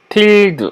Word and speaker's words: tilde: tilde 이거는 물결입니다. 물결 tilde라고 발음하고요.